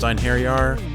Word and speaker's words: Einherjar: I know it's pronounced Einherjar.